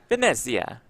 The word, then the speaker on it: Venezia: Is that good pronunciation? Italian pronunciation? Probably I think not. so, yeah. Oh, You nailed it, it, Jeff. It rolls right off the tongue for you. Venezia. That's much better.